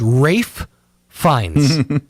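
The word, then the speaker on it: Ralph Fiennes: adulthood I thought that Ralph finds name was Rafe fines because for a long time he was going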